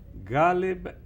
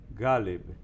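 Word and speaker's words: Ghaleb: Se debe decir Galeb Bader. Galeb Bader. Así es que él se llama. Okay. Porque yo le pregunté, ahí en la prensa están poniendo que Galeb Abdallah Musa Bader. Entonces, ¿qué dijo? Entonces él dijo Galeb Bader. Y ya. Aquí pronunciamos agudo el primer nombre y no, es llano, Galeb.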